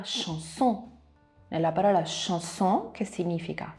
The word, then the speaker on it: chanson: C seguito da H dà il suono SH, come nella parola chanson.